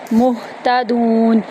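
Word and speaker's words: مُهْتَدُونَ: मुतादून मुहतदून यहां पर हम झटका नहीं लगाएंगे। मुहतदून आराम से पढ़ेंगे।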